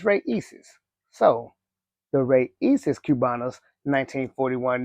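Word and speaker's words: Raíces: But, I pulled up some videos on how to pronounce the name and it's Reyes.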